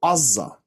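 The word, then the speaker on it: עזה: And the area now, which is known as Gaza in English, in Hebrew is called Azza, and it's pronounced, it's written with an ayin.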